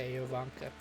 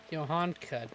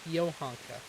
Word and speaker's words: Johanka: Yeah, Ivanka. Is that how you say her name? Johanka, not Ivanka, Johanka. Keep wanting to say the. Yovanka. It's Yohanka.